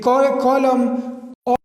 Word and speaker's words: column: silent and uh in column or there is other examples so you know n is silent here fine so these were